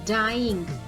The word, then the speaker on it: Dian: So the answer is the actual word is dying. Dying ही actual word है which does not rhyme with lion. तो हमें पता है dying और lion ये rhyme नहीं कर रहे हैं. In order to create rhyme, it is written as Dian in the poem.